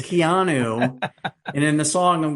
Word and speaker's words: Keanu: name properly because you I always thought it was Keanu. It's It is Keanu. And in the song I'm going Kanu.